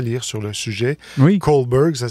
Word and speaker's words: Kohlberg: Kohlberg, ça s'écrit K-H-O-L-B-E-R-G.